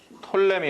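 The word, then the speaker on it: Ptolemy: 그게 누구냐면 톨레미 왕조라고 있어요. 영어를 다 이렇게 써요. 이건 묵음이에요. 프톨레미. 이렇게 안 쓰고 톨레미입니다. 그냥 톨레미.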